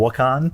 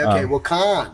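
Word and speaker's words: Wakan: before, but places like maybe Sonic Bloom and Wukan has a similar crowd as well. Oh, there's a full Wukan. Yeah, exactly. Yes. Fuck. I mean, it's called Wukan.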